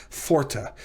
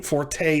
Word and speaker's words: forte: next lecture called the dog-ish forta not forte forte is italian it's in musical you